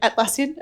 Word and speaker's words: Atlassian: million from atlassian founder is that how you pronounce that yep atlassian okay uh Scott Fara Lord like Lord Fara